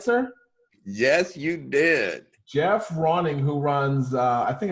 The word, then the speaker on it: Geoff Ronning: time uh i am lucky enough to have jeff rawing and hopefully i pronounce that right sir yes you did jeff ronning who runs uh i think a couple of